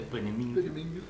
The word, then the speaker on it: Peenemünde: Así se pronuncia, Peenemünde.